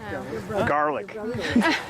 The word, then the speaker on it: Gaelic: You assume that it's Gaelic. No, he pronounces it garlic. Garlic. Again and again, he said garlic.